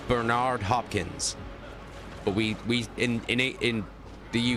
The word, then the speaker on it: Bernard: In America, you'd pronounce it Bernard. Bernard. Like Bernard Hopkins.